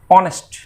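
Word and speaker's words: honest: इसी तरह से एच ओ एन ई एस टी, ऑनेस्ट, इसमें भी एच साइलेंट है तो हम एन ऑनेस्ट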